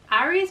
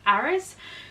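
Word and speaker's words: Ares: that is eros or I don't know if you guys Brown said Aries but I think in the Netherlands where this comes from it's pronounced eros so basically this is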